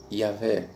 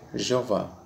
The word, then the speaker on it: Jeová: conveniência entenda por nós vamos adotar aqui a pronúncia para o tetragrama a pronúncia será Jeová ou Jé Ok se você preferir Jeová ou yé tudo bem fique à vontade tá bom irmão então